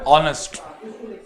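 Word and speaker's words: honest: Start हो रहे हैं, लेकिन अगर इसको आप प्रोनाउंस करें तो यहाँ पे एच जो है वो साइलेंट कंसीडर किया जाता है।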